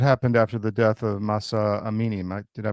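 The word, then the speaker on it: Mahsa Amini: That was uh that happened after the death of Masa Amini. Am I did I pronounce her name right?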